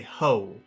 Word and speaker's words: hoe: uh in in certain in certain ways of speaking people will instead of saying which again mean it's a very it's kind of like a swear word uh they'll say ho which is spelled ho o and so that's uh